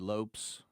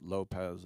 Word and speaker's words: Lopes: Um, I want to say RI to Dave Lopes who he was the first person when I was a kid to realize that asset Portuguese. You don't pronounce it Lopez.